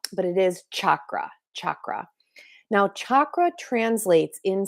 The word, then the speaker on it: chakra: Now, I'm still working on pronouncing them correctly in the Sanskrit version, which is chakra, but I do live here in a Western world in the United States, and I often say chakra, but it is chakra, chakra.